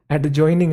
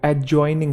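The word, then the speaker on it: adjoining: एक वर्ड है एडजॉइनिंग, एडजॉइनिंग नहीं है वो, एडजॉइनिंग है, एडजॉइनिंग। ठीक है। तो ए और जे के बीच में जो डी है वो साइलेंट है।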